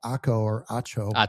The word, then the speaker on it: Acho: The host speculated about what could have led to the split, and this guy said Emmanuel Acho. Yep. Rhymes with nacho.